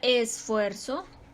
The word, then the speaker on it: esfuerzo: Por ejemplo, en la palabra esfuerzo tiene sílabas átonas y sílaba tónica, que es la más fuerte es la tónica.